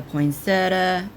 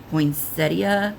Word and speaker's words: poinsettia: So you have the poinsetta. Do y'all say poinsetta or is it what is the other pronunciation of it? Poinsettia or Yeah, I think I say poinsetta.